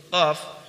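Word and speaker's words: ق: Kita lanjut ke huruf berikutnya, yaitu huruf qaf. Huruf qaf diucapkan dengan menyentuhkan pangkal lidah dengan langit-langit bagian belakang, yaitu bagian yang lunak.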